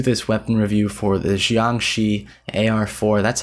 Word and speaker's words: Jiangshi: I probably am not 100% getting the pronunciation right, but I know I'm not butchering it. Not Jiangshi or anything like that. Jiangshi.